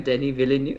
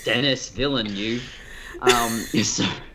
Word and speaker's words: Denis Villeneuve: how I said, hello, I am Denis Villeneuve. Oh, that's how you say it, right. Not Denis Villeneuve.